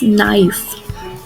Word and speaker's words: knife: Next is knife. Very common, very easy. I think you all know the spellings also, pronunciation also. K is silent in this.